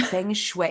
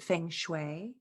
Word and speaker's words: feng shui: your websites uh about feng shui is it feng shui feng shui it's like f-u-n-gen feng shui okay so